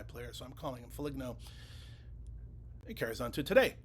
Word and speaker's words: Foligno: I also got corrected on Foligno, because I know it's Foligno, but that's a kind of an inside joke. Back in the day when he was actually coming into the league, I drafted him in a fantasy hockey league, and I was drinking during that time, during that draft, and I kept calling him Foligno, and I kept getting corrected that it was Foligno, and I kept saying